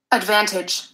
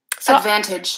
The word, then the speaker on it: advantage: hear it advantage advantage I do think she did more of an advantage with an a schwa sound and that may just be a difference as I said the most important thing is that I'm stressing vans that I'm using a clear vowel there and whether I'm saying advantage or advantage doesn't make that big of a difference the most important thing is having that length that stress I'm going to show